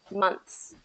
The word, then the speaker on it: months: No, months, I would probably not do that. I would keep the th in there Okay. because if you have months, Months. and you take that th out, it can be a little bit more confusing.